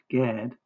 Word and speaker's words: Gad: Gimmel Darot, pronounced Gad, is a proper noun and is Yakov's seventh son and the tribe of Israel.